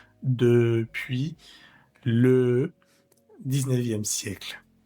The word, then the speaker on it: depuis: No lo vamos a pronunciar como la e española, sino la e francesa. Depuis le 19e siè à